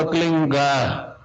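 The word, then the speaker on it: क्लीं: की मात्रा और बिंदी, उसका उच्चारण होगा क्लिंग गा, गा की ध्वनि निकलेगी पीछे।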